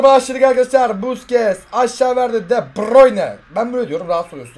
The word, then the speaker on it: De Bruyne: De Bruyne, abi nasıl okunuyor De Bruyne? Aslında De Bruyne diye okunuyor. Belçikalı ya. Ama İngiltere Premier League Super Speaker'i De Bruyne diye okuyor. Aynen onlar, o çünkü İngilizce yapıyor işte.